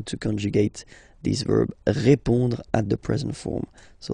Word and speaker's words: répond: So, final D is not pronounced.